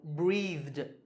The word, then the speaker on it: breathed: So it's pronounced duh. So breathed.